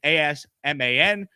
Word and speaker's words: Asman: It's just my name, A-S-M-A-N. It's pronounced Asman, as in A-Z-M-I-N, Asman.